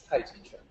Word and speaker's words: Tai Chi Quan: Tai Chi in Chinese is Tai Chi Quan. So the real pronunciation in Chinese, the second character is a J sound, Tai Chi Quan.